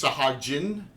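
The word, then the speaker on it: sahuagin: Sahagwin? It's a hog one. Hogwood. I never did know how to pronounce those. Well, according to Troy, it's Sahagin. Sahagin. I always said Sahagwin.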